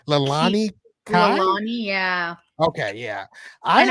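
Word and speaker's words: Leilani Kai: Wendy Richter versus I don't know how to pronounce her last name. Oh, Her name Lalani Kai.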